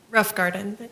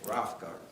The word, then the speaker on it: Rothgarden: And what's uh Miss Melissa Rothgarden? Uh is that how to pronounce pronounce it for me? Rough garden. Rough garden.